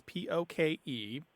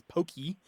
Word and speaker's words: poke: to go back to the fish dish is p o k e pronounced basically as poke although in the mouths the mouths of angones it usually comes out as Pokey or poke po um I have seen it